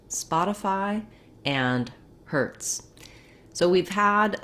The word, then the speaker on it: Spotify: of all the for the stressed syllable is a syllable spot and it's just like the word spot except that um we don't say the t the same in spot as we do in spotify because the t is in the middle of the word so let's break it